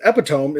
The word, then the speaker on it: epitome: are we going next kenneth said epitome is pronounced e pit epitome yes i think i